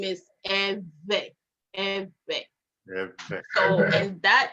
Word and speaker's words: Ewe: we say it is pronounced by creating a vibration sound uh with your pursed lips while you're forcing air out so the name is eve and that name became